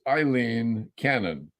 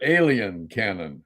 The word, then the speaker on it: Eileen Cannon: today I heard uh someone mispronounced the name of his uh judge whose name is Eileen Cannon but they called her alien Canon and I'm I'm going